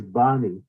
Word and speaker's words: Bani: Maharaj, there is one question from Boni Mataji, Boni Prabhu, or from sometime. Is it okay to have that question, Maharaj? We have Her name is Bani. Bani. Sorry, Not pronounce Boni.